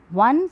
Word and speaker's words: one: One starts with O, that's a vowel, but the pronunciation comes as V.